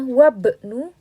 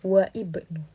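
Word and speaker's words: وابن: Nah, ketika dia di tengah-tengah kalimat, dengan di sini dia ada hamzah wasal, berarti hamzah wasalnya dia tidak dibaca. Sehingga kita membacanya wabnu bukan wa ibnu.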